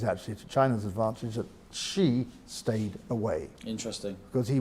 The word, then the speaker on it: Xi: President Xi, I've got to get my pronunciation right here. President Xi.